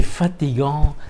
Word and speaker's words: fatigant: C'est fatigant. C'est fatigant. Voilà. It's tiring. C'est fatigant. C'est fatigant. Gant. Voilà. Nasal sound again. Gant. C'est fatigant. Some guttural sound as well. C'est fatigant.